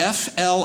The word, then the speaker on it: Flippin: in arkansas in arkansas name of the town is spelled f-l-i-p-p-i-n i would move there everything's funny at that